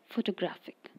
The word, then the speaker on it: photographic: And in the word photographic, the stress is added to the syllable graph. Photographic.